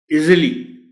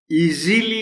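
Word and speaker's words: easily: सो इस वर्ड का प्रोनाउंसिएशन क्या हुआ, इजिली, इजीली नहीं कहना, इजिली।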